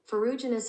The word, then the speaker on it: Ferruginous: Okay, this is how you pronounce it. Ferruginous hawk.